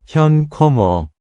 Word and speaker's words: Hyun Kummer: Hyun Kummer.